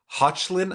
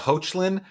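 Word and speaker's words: Hoechlin: one kate bosworth and tyler hutchlin i believe is uh hoachlin is how you pronounce it it's the domestics now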